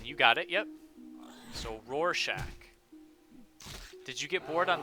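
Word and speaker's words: Rorschach: But my name is pronounced Roarshack.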